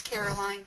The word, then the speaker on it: Caroline: I don't know if it's Carolyn or Caroline. I work with two different ones, and they pronounce their names differently. But it's Caroline. Thanks for asking.